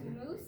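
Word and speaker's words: mousse: It's pronounced moose, and it has nothing to do with mice.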